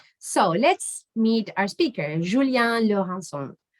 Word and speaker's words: Julien Laurencon: let's meet our speaker julian lohan julian is french so that's how we should pronounce his name and let me tell